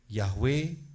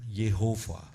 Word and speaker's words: Yahweh: Ya, Yahweh bukan Yehova, bukan. Yahweh is not Jehovah. Jehovah.